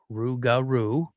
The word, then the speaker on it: Rougarou: the old legends of the Rougarou, which is pronounced Rougarou.